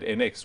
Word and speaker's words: ENX: NX, even though it's spelled ENX.